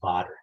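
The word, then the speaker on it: Baader: Initially, I picked up this, how do you say this, Bader or Botter? Any authoritative pronunciation? I work for a company whose second language is German. It's Botter.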